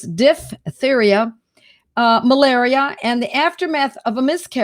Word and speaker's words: diphtheria: It's not diphtheria. It's D-I-P-H, because there's that PH sound is a F sound. So it's diphtheria, malaria, and the aftermath of a miscarriage, blood poisoning, and its related effects.